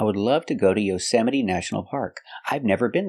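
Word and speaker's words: Yosemite: beans y y y the stress is on the second syllable y y y National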